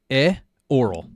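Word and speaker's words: Ioreth: Oh, two syllables. E oral. E oral.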